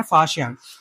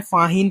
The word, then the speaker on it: Faxian: इसका प्रोनाउंसिएशन है फाशियान। अब देखो, ऐसा नहीं है तुम इसको चाहे फाहीन पढ़ो, ज्यादातर लोग फाहीन पढ़ते हैं, तो फाहीन पढ़ो, बट आपको जो हिस्ट्री है ना उसकी वो याद होनी चाहिए।